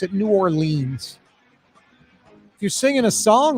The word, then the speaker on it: New Orleans: That's how you pronounce it, New Orleans.